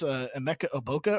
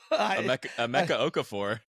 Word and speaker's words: Emeka Okafor: I mean, dude, you came prepared with how to pronounce Emeka Oboka or whatever the hell you just said. Emeka Okafor.